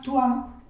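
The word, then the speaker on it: toi: acordando no entonces bueno todas estas palabras que tienen o y la i juntas se van a pronunciar ua mua tua todo lo que tenga o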